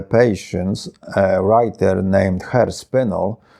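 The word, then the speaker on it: Spinell: a writer named her spinal who seems to like to pronounce his name as spinali probably saw The Italian sound makes it more romantic and artistic well her spindle becomes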